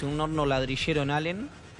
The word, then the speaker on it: Allen: Y me decía Antonio que se pronuncia Allen, una localidad en Río Negro donde hay hornos ladrilleros.